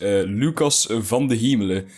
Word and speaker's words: Lucas van de Hemelen: Okay, so this is obviously supposed to be a light character, and this right here is Lucas van de Hemelen. So you kind of pronounce his name in Dutch, as you can tell.